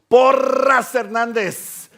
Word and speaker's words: Porras-Hernandez: por herandez that's right that's how I say it in ESP por herandez and if that scares